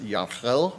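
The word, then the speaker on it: Gehl: Uh I think my presentation will will also speak to in particular uh the man himself Yan Gale which I think is actually pronounced Yel or something like that.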